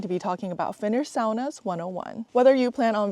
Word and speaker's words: sauna: need to know that sauna in Finland is actually pronounced sauna. Sauna is actually a Finnish word, but somehow Americans and those outside of Finland started to say sauna instead of sauna.